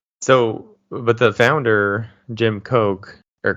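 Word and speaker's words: Koch: old at all so but the founder Jim Coke or cook I think we said we'll mispronounce a few things Jim Cook um he was from a long line of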